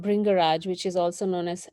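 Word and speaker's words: Bhringraj: can you repeat the name again and just spell it for people who may not be familiar with it so it's called bring garage so b h r i g bring so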